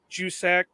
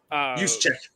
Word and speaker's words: Juszczyk: And I can't pronounce the guy's last name for nothing, but the fullback from San Francisco, Jusek. Juszczyk.